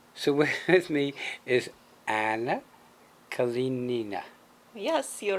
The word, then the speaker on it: Kalinina: Thank God the lady next to me is as pretty as she is, because pronouncing her name is brutal for me. Okay, so with me is Anna Kalinina.